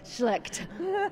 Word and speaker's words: Schlecht: you say your last name sweetie very carefully shle nice so uh it's the last day of